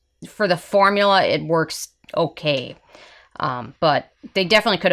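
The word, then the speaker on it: Werk: lacquer I grabbed is work which is spelt wer k not work it's work I know how you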